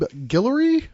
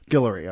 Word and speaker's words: Guillory: We've got with us today John Layman and Rob Guillory. That's it. Guillory.